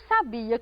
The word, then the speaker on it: sabia: cuidado com a pronúncia existem palavras que são muito parecidas mas mudam de sentido se você mudar o lugar da sílaba tônica quer ver alguns exemplos